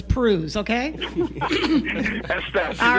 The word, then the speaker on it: Pruhs: It rhymes with cruise, but it's Pruhs, okay?